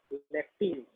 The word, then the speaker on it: lacteal: Okay, क्या pronounce करेंगे, लेक्टिल, ठीक है, दैट इज कंसीडर्ड एज और नोन एज लेक्टिल।